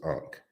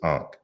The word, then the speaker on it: Ankh: So you see the first one is Ankh, and keep in mind that this is 3 consonants in a sequence.